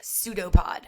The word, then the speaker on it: pseudopod: the cytoplasm called a pseudo pod it's spelled with a P but it's a pseudopod so this extension of